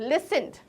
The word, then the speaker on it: listen: letter होता है तो लिसन बोलेंगे कभी टी नहीं लेट सेंट नहीं बोलते टी जो है वो साइलेंट रहेगा और लिखने में टी